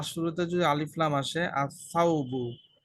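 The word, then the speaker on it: الثوب: যদি আলিফ লাম আসে আসসাউবু দা ক্লথু লাম কি উচ্চারণ হচ্ছে নাকি হচ্ছে না হচ্ছে না হচ্ছে হচ্ছে না হচ্ছে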